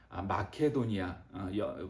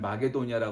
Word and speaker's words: 마케도니아: 말씀이 데살로니가는 어떤 곳이냐는 마케도니아 성경에는 마게도니아 나와 있지만 우리가 현 현대적인 발음을 하는 마케도니아 그리가 마케도니아는 뭐 알렉산더